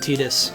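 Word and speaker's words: Tidus: Damiani told me to pronounce it Tetus and I follow Damiani's rule on that one.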